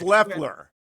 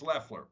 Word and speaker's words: Loeffler: And by the way, is it Loeffler or Loeffler? Because I've heard it pronounced both ways. I think it's Loeffler. It's Loeffler. Okay.